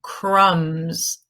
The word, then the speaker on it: crumb: and he is making crumbs crumbs right so crumb ends with a B but it is silent limb your limbs are